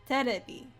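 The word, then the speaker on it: テレビ: But basically, instead of saying television or TV, they say terebi.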